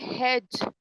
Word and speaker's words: hedge: Second word है हेज, हेज, हेज HEDGE, हेज, बट डी हमारा silent होता है।